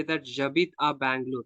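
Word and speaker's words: J'habite: So usually we use to say that Jabit a Bangalore, like I live in Bangalore. But H is silent over there. We are pronouncing as with A-B-I-D, Jabit.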